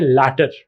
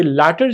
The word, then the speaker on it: latter: LATTER इज नॉट लेटर, this is लैटर, this is pronounced as लैटर।